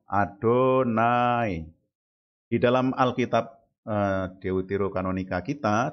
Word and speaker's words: YHWH: Lalu nama yang kedua YHWH, dibacanya Adonai.